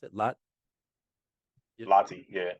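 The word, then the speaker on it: Lahti: playing professionally overseas uh lot how do you pronounce it lot LTI yeah l a h t i just lty yeah LTI lty in Finland man sir grew up saw this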